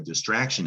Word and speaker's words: distraction: Again, T-I-O-N, French in origin. Take a good look. It's pronounced shun, not spelled shun.